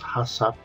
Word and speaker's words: HACCP: principles of hup and that's how you pronounce it is Hass although there's no a after the second C before PM recognize the